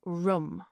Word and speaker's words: Rum: also the Sultanate of Rum. So the way that is spelt is R-U-M. Rum, if it sounds like Rome, that's because that's what they meant by it.